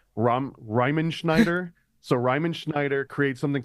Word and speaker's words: Riemenschneider: 1492, one of these paintings, and the pronunciation of this guy's name is an absolute nightmare, but it's like Riemenschneider.